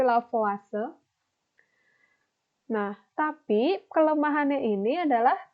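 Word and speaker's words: Lavoisier: ide-ide dan lavase ya ini bacanya bukan laut voice sir tapi lavase nah tapi kelemahannya ini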